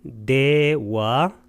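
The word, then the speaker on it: devā: 33천의 신들은 네와 따와 띵사, 네와 와를 길게 발음하면 신들이 되겠고 따와 띵사, 이 따와 띵사가 33천입니다.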